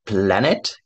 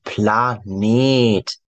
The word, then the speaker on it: Planet: 하지만 발음 조심. Nicht Planet, sondern Planet. 에, 길게. 인터넷 할 때, 이 넷은 영어 발음 때문에 넷. 오히려 착하다 넷랑 같은 발음이죠. 짧게. 하지만 독일어는 거의 90% 이상 에가 있으면 장음입니다.